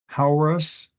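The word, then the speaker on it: Hauerwas: Narrative Ethics by Hauerus. That's how his name should be pronounced.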